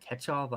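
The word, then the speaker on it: Kochetkov: pulled a pyoter called ketchov I think is how you pronounce the last name Young Gun which isn't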